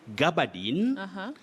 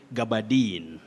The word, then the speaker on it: gabardine: You use two pronunciations. In other words, those are alternatives. You can say Gabardine, Gabardine with the primary stress at the beginning or the onset, but you can also say Gabardine.